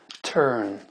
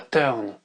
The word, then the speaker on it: turn: son et le son turn tourner et non pas turn turn on entend ça